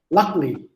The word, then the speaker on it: luckily: You can say luckily. The stress in the first syllable.